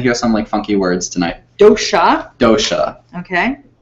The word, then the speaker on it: dosha: They are called doshas. You're going to hear some funky words tonight. Dosha.